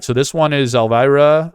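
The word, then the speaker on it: Elwira: so this one is Elvira I think she pronounces it Alvira I assume e-l-w-i-r-a but I think the W is a v the way I've heard it a few times uh polakowska all right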